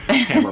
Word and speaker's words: Tamara: Tamara Broadbent. Yeah. I have to remember, rhymes with hammer. Tamara Broadbent.